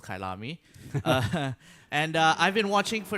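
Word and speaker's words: Kyalami: It's been a while since the last round in Kailami, which I've only just recently found out is pronounced Kailami.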